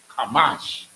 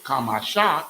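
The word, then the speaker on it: חמש: If it's Kamasha, it would be 3 syllables. And it would be connected. But it's Kamash, meaning that there is only 2 connectors. Only 2 syllables.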